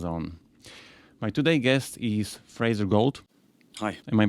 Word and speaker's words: Fraser Gault: the autoc captions on my today guest is Fraser gold hi am I pronouncing it right yeah and Fraser was an